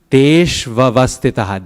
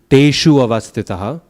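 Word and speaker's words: teṣv avasthitāḥ: That's not a U, teshu avastitaha, because if you say teshu, you're adding a syllable, okay? It used to be teshu, but it's not teshu anymore. Tesh, va, and then use the vowel that comes after it. Tesh vavastitaha.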